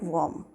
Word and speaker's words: worm: कहेंगे दे वर book वॉर्म। दे वर book वॉर्म। और WORM को हम वॉर्म नहीं बोलेंगे, वर्म। It will be VERM, वर्म। The pronunciation will be वर्म।